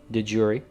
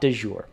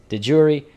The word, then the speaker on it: de jure: But that is how you say it. It is not de jure. I used to think so as well, but there is no French there. This phrase went directly from Latin into English.